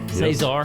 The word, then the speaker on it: Cesar: Rick Vasky along with Cesar. Cesar, did I say it right this time? I always say it. Yes, finally. Cesar. Yes. Is it Cesar?